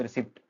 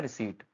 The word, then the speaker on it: receipt: यहां साइलेंट रहता है आपका पी। रिसीट का मतलब होता है रिसीट।